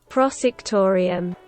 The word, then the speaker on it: prosectorium: he's like in the prosectorium and that's how you say it it's it's the word in polish i think it's the same in english prosecutorium yeah it is prosectorium yeah okay it means the